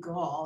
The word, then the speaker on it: Gall: I think she pronounces her name Gall. Is that correct? That is correct. So many people get it wrong. It's gall, like gallbladder.